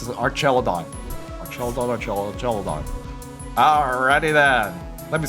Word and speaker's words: Archaludon: We don't want to do it on I forgot how to pronounce it. Archaludon?